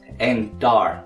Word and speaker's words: Endar: Is it pronounced Endar or Endor? Endar. Okay. There's an A in there.